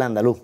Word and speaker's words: andaluz: sobre la defensa del andaluz. ¿El andaluz? ¿Terminado con acento en la U? Andaluz. Eso es. Sin Z. Eso es.